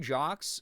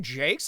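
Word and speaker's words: Jacques: Brian Jocks. Uh he pronounced it Jakes. I love that form. Did he really? My whole life's been a lie. I've always said it Brian Jocks because of the French.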